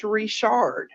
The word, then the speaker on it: Richard: friend's last name is rishard which was like French like frenched up a little bit okay yes in Louisiana Richard last name especially well is Richard is how they pronounced it and so it